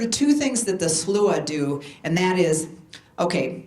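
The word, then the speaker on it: Sluagh: This is a Norse version of the Slua is how it's pronounced, by Peter Nikolai Arbo, and it's The Wild Hunt, and this is painted in 1872.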